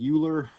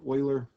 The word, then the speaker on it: Euler: okay this guy's name is Euler looks like Euler it's actually pronounced Euler he has a theorem that says the number